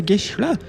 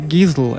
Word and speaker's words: Gisle: Olivia, my name is Gisle in Norwegian. That's how Norwegians, or that's how Norwegians from my region of Norway say it. On the other side of Norway, they say Gisle. And Americans say Gisle, and I'm so used to everything.